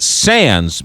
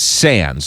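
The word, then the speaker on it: Sandys: is with us you pronounce it sands but it looks like Sandy's right yes okay so when people look for the book it's si and dys but you pronounce its sands so it's sands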